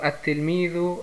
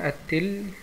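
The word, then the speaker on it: التلميذ: Al-Mujtahidu, der Fleißige, und zusammen sind also At-Tilmidhu Al-Mujtahidu. At-Tilmidhu Al-Mujtahidu, der Fleißige Schüler. Und hier die Ta ist eine Mondbuchstabe, Sonnenbuchstabe, Entschuldigung. Deswegen hat die ein Shadda, At-Tilmidhu, und die Lam hier wird nicht ausgesprochen, At-Tilmidhu Al-Mujtahidu, Al-Mujtahidu, der fleißige Schüler.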